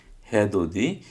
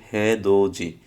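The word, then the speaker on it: 해돋이: দ্বিগুত দি, দো দে, হে দো দি। কিন্তু এই দ্বিগুতের পরে আসার কারণে এই নিচের দ্বিগুতটার উচ্চারণ জ হবে, যার কারণে এটা হবে হে দো জি, হে দো দি না হয়ে হে দো জি।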